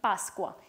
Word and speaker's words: Pasqua: They would be pronounced in two different ways. In Italian, Pascua, and in Venezuelan Spanish, Pascua.